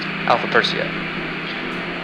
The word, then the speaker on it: Alpha Persei: Ares' brightest star is pronounced Hamil, and Perseus' brightest star is pronounced Alpha Persei.